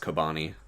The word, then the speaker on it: Chobani: it's pronounced You know what I Kobani.